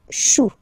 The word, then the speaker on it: choux: Then, un chou, okay, remember, when you combine this C and H, you get the sound sh sh sh. Chou, un chou, pluriel, des choux.